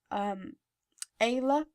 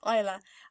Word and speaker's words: Isla: When I first heard it, I thought it was going to be pronounced Ayla, but then when I looked into it, it's actually pronounced Isla.